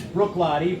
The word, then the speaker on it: Bruichladdich: And it's Bruichladdich, Brook like a stream, Lottie like a little kid.